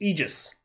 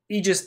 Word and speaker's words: Aegis: talking about the Aegis egis egis a look it's spelled with an A but apparently it's pronounced with an e and today I went